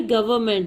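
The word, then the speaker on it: government: गवर्नमेंट, इसमें N silent होता है।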